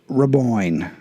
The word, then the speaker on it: Raboin: Raboin. R-A-B-O-I-N. Just think Boyne rhymes with coin because shit is money.